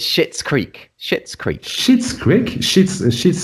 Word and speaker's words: Schitt's Creek: Schitt's Creek. I'm looking. Yeah, it's spelled SCHITT.